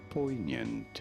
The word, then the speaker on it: poignant: on Google yes how do you go about pronouncing it mhm poignant poignant po poignant poignant did you get it okay